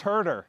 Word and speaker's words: Huerter: Well, I am saying all Apparently it's white pronounced Herder.